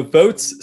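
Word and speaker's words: Voatz: cons of it sure so votes spelled with a z um so votes is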